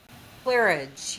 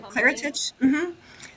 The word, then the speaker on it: Claritage: Um, so Clarage, your Am I saying it right? Your publishing Claritage. So, okay. I I named my self-publishing company Claritage, which is my mother's name, Claire, and the word heritage kind of put together because Claritage.